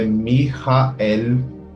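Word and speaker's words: מיכאל: do latim, sendo que no hebraico original a pronúncia correta é Mihael, e a escrita seria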